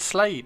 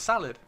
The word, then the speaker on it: Salad: got your name wrong he said slade your name's not slade it's salad uh i don't have